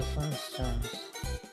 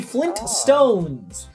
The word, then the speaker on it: Flintstones: It is the Flintstones. Many people improperly remember it as Flintstones because the theme song doesn't pronounce the T very well.